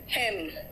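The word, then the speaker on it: hymn: एन कहाँ silent है देखो तो, इट्स सोलेम, एन है लेकिन मैंने क्या कहा, सोलेम, ऑटम, हेम, मंत्र को हेम कहते हैं, हेम नहीं कहते, कॉलम, एन साइलेंट है ना।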